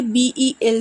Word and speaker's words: BEL: এটাকে বলে বেল circle বা বেল রোড, অনেকে BEL সার্কেলও বলে। কথাটা বেল মানে BEL বানানটা, সেই কারণে অনেকে BEL সার্কেল বলে।